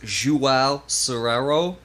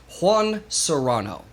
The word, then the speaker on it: Juan Serrano: then there was uh so there's there's two pronunciations i'm gonna go with this pronunciation because jewel sorero is kind of hard to say so i'm going to go with juan serrano it's much easier for me to say i like the pepper